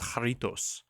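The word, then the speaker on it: Jarritos: was right okay but it's Spanish so you pronounce the J like an H so it's haritos pop we call that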